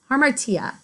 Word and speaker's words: hamartia: dramatic tragedy and they're a little tough to pronounce sometimes this one is hamartia armor tia it's known as your fatal flaw this trait